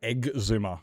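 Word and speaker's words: Xisuma: I call him Exuma when I when I try to pronounce the X. It's exuma. It's not exuma or it's egg. It's egg zoomer. That's how I pronounce it.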